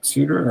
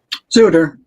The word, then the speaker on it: Bruce Sutter: Sutter or Sutter? Suter.